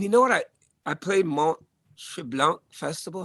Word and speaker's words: Mont Tremblant: I played and you know what I played Mont Tremblant Festival. How do you say it? Mont Tremblant.